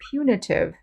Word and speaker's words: punitive: money to punish you you can hear that punitive is pronounced differently than punishment or punish you make the u sound for example in the